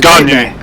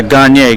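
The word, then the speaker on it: Gagné: for the dodgers who's the last thing was ganji yeah gagne get it straight greg he's french canadian great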